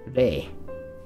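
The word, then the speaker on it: れい: The other way you will often find it pronounced is re.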